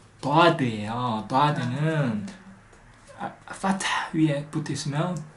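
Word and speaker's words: ضاد: 다 자세히 들으면 혀가 입천장에서 툭 떨어지는 소리 나요. 다 이제 할 수 있어요. 다 그래서 이 다의 이름은 다드예요.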